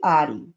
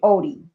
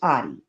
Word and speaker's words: Oddi: Jonathan Audi. Y'all see that? Some people pronounce his name Odie, but it's Audi.